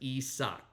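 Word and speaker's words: Isaak: is ISO Neil um it's Isaac and Dutch so it's a little bit different um but it's pronounced esck kind of like an internet sock or email you know so that's kind of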